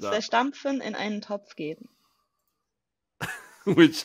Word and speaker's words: zerstampfen: So you'll have to pronounce it properly for me. Kartoffeln kosten gestampfen in einen Eintopf geben.